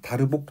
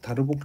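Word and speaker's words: Darboux: 그러면 이제 제가 처음에 얘기하려고 했었던 이제 고등학교 때는 배우지 않았었던게 뭐냐면이 다르복 정리라는 겁니다. 이거를 어 다르라고 읽기도 하고 다르복이라고 읽기도 하는데 저는 뭐 다르복이라고 읽도록 하겠습니다.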